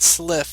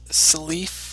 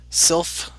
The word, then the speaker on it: Sylph: It's not Sliff, it's Silif or Sylph. I got to go look at the comment again, but I was pronouncing it wrong.